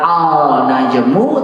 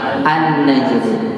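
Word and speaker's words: النجم: Kita tidak bilang al najmu tapi an najmu.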